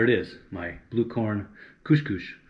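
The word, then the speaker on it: couche-couche: All right, there it is, my blue corn couche couche. Sometimes pronounced couche couche. I'm not saying couscous, which is a whole nother dish altogether.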